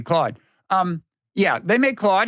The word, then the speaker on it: Claude: clo the AI yes they don't pronounce it that way but but the Canadians the Canadians uh there do but but the others pronounce it Claude um yeah they make